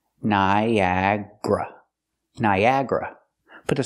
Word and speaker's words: Niagara: Niagara Falls pronunciation not Niagara it looks like four syllables but we pronounce it with three Niagra Niagra put the stress